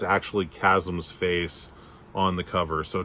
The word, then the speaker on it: Chasm: been pronouncing the name chasm it's chasm guys c-h-a-s-m do you really not know how to say that word chasm not chasm not chihasm i or chasm i i